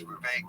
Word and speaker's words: Vivek: In his rap, he says Vivek, it rhymes with cake.